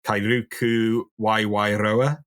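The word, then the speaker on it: Kairuku waewaeroa: species of penguin which please excuse my pronunciation of the maori is going to be kairuku y wairoa perfect yes that was perfect so um how and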